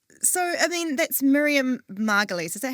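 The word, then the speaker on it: Miriam Margolyes: So, I mean, that's Miriam Margalies.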